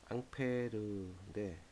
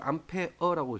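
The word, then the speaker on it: Ampère: 이 암페어라는 단어를 사용하는 이유는 이제 프랑스 물리학자 앙드레 앙페르가 발견한 법칙에서 유래됐기 때문에 앙페르인데, 뭐 읽기는 독일식으로 암페어라고 읽지만 발견한 사람은 앙페르죠.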